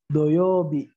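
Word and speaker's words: 土曜日: Doyobi. Doyobi. Doyobi. Jadi bukan U ya, tapi O kalau dalam lafaznya.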